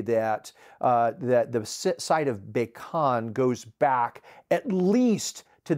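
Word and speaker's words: Becan: Now, Baikon, the name itself, that's spelled B-E-C-A-N, it simply means, I've seen it interpreted as water-filled ditch or a moat.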